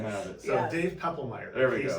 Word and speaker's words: Poeppelmeier: The O is silent. Dave Why don't you say your full name so everyone can have it? So Yes. Dave Poeppelmeier.